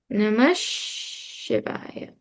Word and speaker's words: Namah Shivaya: Namaha Shivaya or Namah Shivaya. Most people will write it like this, Namah Shivaya. But when they're chanting, you'll hear Om Namah Shivaya. You'll hear them pronouncing it more like this. It's not right, wrong.